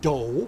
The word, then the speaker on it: 도: 여기서의 '도'는 중국의 '도교'와 같아 Koreans pronounce it Do.